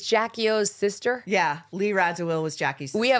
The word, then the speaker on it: Radziwill: How do you pronounce that? Radziwill.